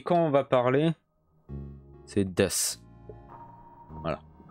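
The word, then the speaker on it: です: Mais quand on va parler, c'est des. Voilà. C'est pas desu, c'est des. Mais on l'écrit comme ça, avec le sou. Mais on va pas le prononcer sous.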